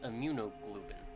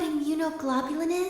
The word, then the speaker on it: immunoglobulin: IG equals amunoglobin. Globin. Do you know what immunoglobulin is?